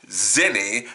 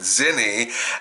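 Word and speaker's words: Xeni: Dream Productions, Gene Dewberry, Nepo babies, her nephew, Zenny, that's spelled X-E-N-I, of course, into the position of Paula's assistant director.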